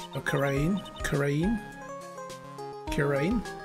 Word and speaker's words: Kurain: The treasures of Kurian. Or Kurain? Kurain? Kurain? I think it's pronounced Kurain. I can't remember how I was pronouncing it last time. I'm going to say Kurain.